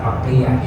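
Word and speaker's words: Makkiyah: Makkiah. Makah Makiah. Kalau Makkah nyebutnya ma Makkiah.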